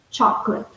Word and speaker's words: chocolate: of the word chocolate so we have two syllables cha clips chocolate so in our brief